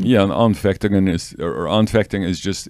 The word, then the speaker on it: Anfechtungen: German word, and I'm not sure how to pronounce it. Anfechtungen? Yeah, Anfechtungen is, or Anfechtung is just, it's something like a temptation, but more than a temptation, more than a struggle.